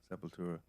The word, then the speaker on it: Sepultura: Oh, Sepultura. I've always said that. You want to make sure everybody knows how many syllables are in this.